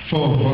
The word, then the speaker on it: Fauve: Fauve. Fauve, okay. Yeah. She didn't phonetically spell it for me.